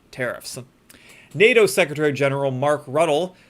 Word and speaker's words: Rutte: So Trump and Rutte, that's how I'm going to pronounce his name. Trump Rutte announced really big NATO arms package amid new 50-day deadline.